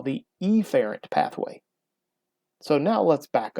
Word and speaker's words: efferent: i say efferent what i like to do is be really really stressed on that first letter i will say afferent or efferent and that's not really the way that they're pronounced normally it is afferent or efferent but those don't really sound too much different so i overdo it afferent and efferent so how do we